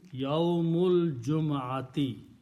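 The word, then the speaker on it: يوم الجمعة: And you don't pronounce alif in between. Yawmul Jum'ati.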